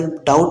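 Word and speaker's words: doubt: तो जिस प्रकार से डाउट में जैसे देखिए डाउट तो बी यहां पर साइलेंट है तो उसी प्रकार से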